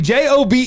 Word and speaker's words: Job: Is his name spelled like Job. Job. That's a like where's the E? It should be J O B E.